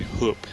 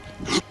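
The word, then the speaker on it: Höfn: o FN hofen but apparently it's pronounced H as like you're uh hiccuping and saying hoop something like that it really doesn't make sense but hoop is the name of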